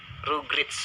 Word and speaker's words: Rugrats: simpulkan BTW Moonlight versus Rugrits. Harus bacanya gitu ya, Rugrits team ya. Harusnya ya baca seperti itu ya.